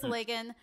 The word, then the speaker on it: Legyn: Legen, hard Legyn. G. Hard G. Okay, so it is Legyn.